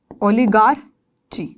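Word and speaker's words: oligarchy: क्या बोलेंगे, ओलिगाक्रेसी, ओलिग्रेसी, क्या बोलोगे, मैं आपको प्रोनाउंसिएशन बताती हूँ। पहले हम बोलते हैं ओलिगार्ची, ओलिगार्ची या ओलिगर, ठीक है, ओलिगार्ची, ये प्रोनाउंसिएशन बनती है इसकी, ठीक है।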